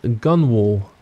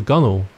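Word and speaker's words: gunwale: bit somewhere inside of this gun wall or or the gunel depending on how you want to pronounce it but yeah that's like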